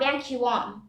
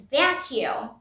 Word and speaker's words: vacuum: to vacuum sorry vacuum it's not vanquim it's vacuum vacuum like vacuum cleaner vacuum hope you liked